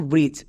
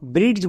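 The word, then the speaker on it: bridge: এখানে আমাদের tips use করতে হবে যে শব্দের শেষে যদি ডিজিই থাকে তাহলে আমরা তার জন্য বর্গীয় জো বসাবো।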